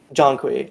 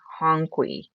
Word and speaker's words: Jonqui: I was thinking like Johnny, and I'm like, they're missing a syllable in here. This time around, I read it as like with the J being an H or something, or like honky, and I don't know why.